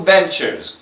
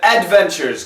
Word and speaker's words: Ventures: the company Google Ventures keys says Adventures Google adventures I like that Google Adventures it sounds like Disneyland or something like that uh and I'm not teasing but but it's just simply ventures check the glossary it's a